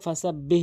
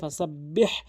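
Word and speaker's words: فسبح: সাব, বা হাজের বিহ, অধিকাংশ লোক ফাসা বিহ বিহামদি বলে, ফাসা বিহ বিহামদি, এখানে সম্পূর্ণ ভুল। এখানে হাটি, এখানে উভয় জায়গায় হা রয়েছে, এই হাটি অবশ্যই হলকের মাঝখান থেকে চাপ দিয়ে উচ্চারণ করতে হবে, ফাসাব্বিহ এভাবে চাপ দিয়ে।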